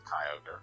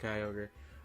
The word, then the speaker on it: Kyogre: I really have a soft spot for Kyogre, or however you pronounce that. Because I played... I'm pretty sure it's Kyogre. It is just Kyogre.